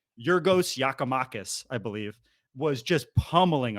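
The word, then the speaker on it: Giakoumakis: half 100 they whatever the Greek yakumakis I believe is how I learned how to say it your ghost yakamakis I believe was just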